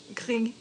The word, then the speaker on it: gris: Gris.